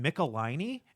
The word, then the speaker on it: Michelinie: Michelinie? And he goes, yes, everybody pronounces his name incorrectly, and he hates it.